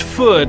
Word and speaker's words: Food: Pull the string to hear what entree Bunny is most thankful for, always along with a reminder that his last name is pronounced Food, like wood, and that he prefers Benny.